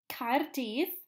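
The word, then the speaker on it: Caerdydd: this one's in Welsh card Eve is how you say Cardiff in Welsh Australia pen ass tire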